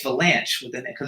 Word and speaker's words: Vilanch: not cess it's chess you have to pronounce a CH so Bruce fanch we'll